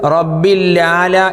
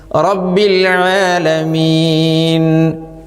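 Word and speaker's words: رب العالمين: പറഞ്ഞാൽ എന്താണ് അതിന്റെ അർത്ഥം എത്ര അക്ഷരങ്ങളാ നഷ്ടപ്പെട്ടത് ഒരു ഐൻ നഷ്ടപ്പെട്ടു പകരം ഒരു ലാം വന്നു അത് ശദ്ദുള്ളതായി എന്നിട്ട് റബ്ബിൽ ആല എന്നുള്ളിടത്ത് റബ്ബിൽാല എന്നായി വായനയിലാണ് ഈ പറഞ്ഞത് എഴുത്തിൽ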